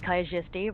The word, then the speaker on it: Kaijisti: And I'll just kind of get up off the floor, brush myself off, try to look dignified, and say, my name's Kaijisti, rhymes with your majesty, but make no mistake, I don't respect the nobility.